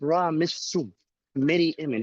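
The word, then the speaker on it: Ramesses Meryamun: birth name Sarah, and here is how it's pronounced in hieroglyphics: Ra Missu, Mary Amen.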